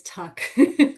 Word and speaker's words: Tuch: A lot of people get it wrong, but my last name is Tuck.